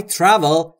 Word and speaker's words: travel: بین تی و آر صدایی وجود نداره، پس ما هم صدای اضافه نمی کنیم.